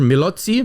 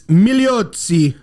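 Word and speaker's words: Migliozzi: his last name producer milotzi it's meliotzi wow so he's up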